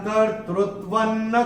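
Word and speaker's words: कर्तृत्वं: अक्षर है न, और अनुस्वार के बाद जब न आएगा तो अनुस्वार का उच्चारण होगा न। तो अगर आपने नोट किया हो, मैं जब चैंट कर रहा था मैंने कैसे किया था, न कर्तृत्वन्न कर्माणि, ऐसे करके चैंट किया था मैंने।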